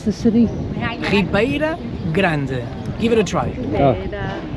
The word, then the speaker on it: Ribeira Grande: How do you pronounce the city? Ribeira Grande. Give it a try. Ribeira Grande.